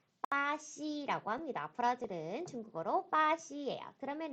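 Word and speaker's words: 巴西: 나라 같아요 그렇죠 브라질이 조 요거를 한번 중국어로 발음을 해 볼까요 당시 빠 ce 아씨 라고 합니다 풀어지는 중국어로 빠 시 에요 그러면 n 나네 브라질 사람이에요 어떻게 해야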